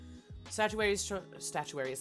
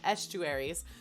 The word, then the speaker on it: estuaries: Statuaries, that's not how you say it. Estuaries form a transition zone between river environments and maritime environments and are an example of an ecotone.